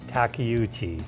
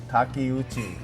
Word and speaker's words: Takeuchi: Oh, I butchered. Could you share with us how to say that correctly? I would say Takeuchi. Takeuchi.